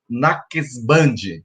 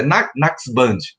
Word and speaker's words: Naqshband: ser iniciado na ordem Naqshband, é mais ou menos essa a pronúncia. Tem muita consoante, é difícil a gente dizer, mas é Naqshband, uma das ordens do sufismo.